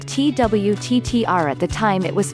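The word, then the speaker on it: twttr: SMS Twitter was called TW TT are at the time it was founded in 2006 t WT TR is pronounced Twitter just like Twitter it is the brainchild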